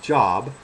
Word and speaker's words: Job: spelled j o like job but you pronounce it like robe like so in other